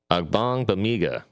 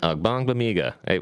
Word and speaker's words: Agbangbemiga: designated for return, and that is linebacker Amen Agbangbemiga. Amen Agbangbemiga. We practiced this a little bit beforehand. And I still butchered his name.